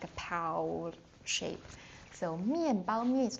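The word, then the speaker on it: 面包: So, mianbao. Remember just now when we uh teaching the tones, the first one is bao. Bao is like a piled shape. So, mianbao means like um the flour, the wheat flour.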